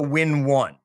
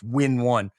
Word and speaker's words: W1N: And the tool, I call it the Win1. That's how I pronounce it all. I spell it W1N. So when you see that in the book, that's how you say W1N. It's Win1.